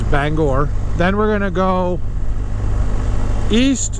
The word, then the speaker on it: Bangor: up through Bangor Maine it's not Banger it's Bangor then we're gonna go